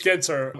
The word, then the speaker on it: Genter: It's Genter. As my grandfather would always joke, there's good, there's great, and then there's Genter. And so that's the way of remembering how to say it, but also kind of